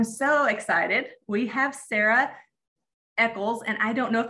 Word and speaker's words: Echols: out and i'm so excited we have sarah eckles and i don't know if i'm saying your last name correctly yeah close pretty close how do you say it sarah alcost elcos okay sarah elkos is the district nurse that